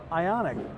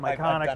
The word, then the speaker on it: Ioniq: oh that's a hyundai ioniq they would mispronounce the name they would call it everything from ICONic that many times okay